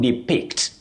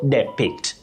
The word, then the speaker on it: depict: Now, for that word, the e after d takes the short a sound i. You say di for that verb, to depict, not depict. Depict is quite common, but it is inaccurate, Wakio.